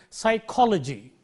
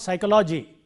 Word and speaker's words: psychology: have the suffix Lodgy the syllable immediately preceding logie will be stressed that the rule you highlight that syllable and therefore you say psychology you see psychology it is not psychology it is not psychology